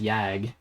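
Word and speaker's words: g.yag: The Tibetans, the word in their language, I believe, is pronounced yag. And it's it refers refers specifically to a male a male uh yak.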